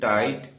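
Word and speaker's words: tight: একইভাবে এল আই জিএসটি লাইট টি আইজিএসটি টাইট আর আইজিএসটি রাইট এম আই জি এসটি মাইট প্রত্যেকটি শব্দে এখানে জিএইচ এর উচ্চারণ হচ্ছে না।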